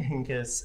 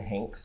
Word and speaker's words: Henkes: Kevin Henkes is, I pronounced it as Kevin Hanks for the longest, and then I did research, and then I was like, oh, I'm simply incorrect.